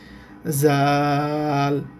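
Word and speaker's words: ذال: আর উপরে এক নুক্তা এই অক্ষরটার নাম হচ্ছে জাল আর নিচে ছুরির মত এই অক্ষরটার নাম হচ্ছে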